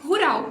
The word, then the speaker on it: rural: eu te escuto e a palavra é rural mesmo se escreve igualzinho em português dois pontos para a gente ter atenção nela é que tem dois erres esses dois R São retroflexos é o r do porta Então a gente vai